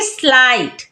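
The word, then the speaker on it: slight: silent हो गया है जैसे स्लाइट यहां पर भी जीएच एक साथ है तो जी एच को नहीं पढ़ेंगे तो क्या पढ़ेंगे स्लाइट तो चलिए जानते हैं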